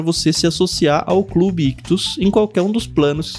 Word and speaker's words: Ichthus: Lembrando que Ictus se escreve I-C-H-T-H-U-S.